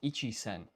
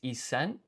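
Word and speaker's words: 一千: And then you obviously place extra emphasis on the S in sen.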